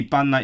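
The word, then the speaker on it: Bannau Brycheiniog: Surprisingly, she got the Banau part correct, which is actually, to me, Banau is the less intuitive part because it's spelled with an AU, so you'd think it's in Banau, but no, it's Banau.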